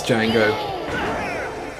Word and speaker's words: Django: The D is silent, but no, this is Django, who like killed him pretty easily that time.